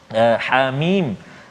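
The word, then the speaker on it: حم: Jadi baca macam mana tuan-tuan puan, ha hidupkan, ha dua harakat, hamim. Macam tu cara baca dia.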